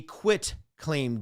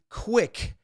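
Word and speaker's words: quitclaim: i say it because some people say it wrong and i've even seen a question or two on occasion that try to trick you up trip you up this is not a quick it is not q-u-i-c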